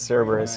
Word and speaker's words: Cerberus: It's Cerberus, yeah. Cerberus. Oh, my That's goodness. Right. We didn't get where we are pronouncing things correctly.